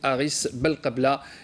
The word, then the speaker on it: Haris Belkebla: J'avais mal prononcé tout à l'heure le nom du joueur du stade brestois, c'est Haris Belkebla.